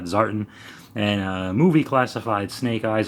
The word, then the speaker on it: Zartan: I believe that's how the diehards, G.I. Joe fans pronounce that, Zartan.